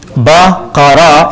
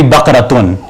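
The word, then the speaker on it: بقرة: When you add that, the full form would be Baqaratun, if you want to pronounce it fully.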